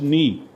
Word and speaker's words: knee: K is silent, yes, like we say K is silent, knee. So knee, body part. So KNEE, we say knee.